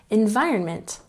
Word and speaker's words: environment: And next we have environment. Emphasize the second syllable.